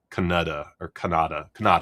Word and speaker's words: Kannada: I always forget how to say it because it's spelled like Canada, Kannada, I think is how you say it.